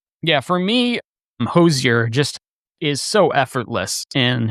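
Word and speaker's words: Hozier: And it's Hosier. That is correct. That is the way to pronounce it. Very, very good. Yeah, I looked up multiple videos. Okay. No, perfect. So, Hosier, very, very successful Irish folk soul and blues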